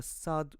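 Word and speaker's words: صاد: which is s s to pronounce the sad correctly the tip of your tongue should be behind your upper teeth then you need to push forward to make the sound deep and Rich also your mouth should be a bit open while you are pronouncing and your tip your lips should be fairly straight an Arabic word for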